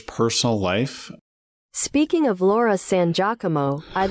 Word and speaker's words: San Giacomo: How she pronounces it. It's not. It's true. Yeah. She says San Giacomo.